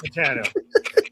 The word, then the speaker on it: Titano: Titano.